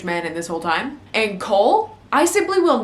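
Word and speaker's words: Chaol: Like, how are you going to How are you going to do that? His name is like Cole.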